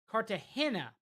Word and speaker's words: Cartagena: Incidentally, hey, Barusa, incidentally, the G in Cartagena is pronounced like an English H. So, Cartagena.